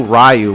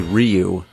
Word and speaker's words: Ryu: Yeah, back then, nobody knew how to pronounce the names. It's like in Street Fighter. We didn't know Ryu was actually Ryu.